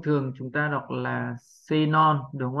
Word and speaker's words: xenon: Phụ âm X đầu tiên biến đổi thành phụ âm Z và ở đây chúng ta đọc là Z. Âm này là âm được nhấn trọng âm. Đây là âm O, nhưng vì đây là âm không nhấn trọng âm mình đọc thêm dấu huyền là O.